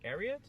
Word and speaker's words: Ariat: If you ever see that brand, Ariat, is that how you say it?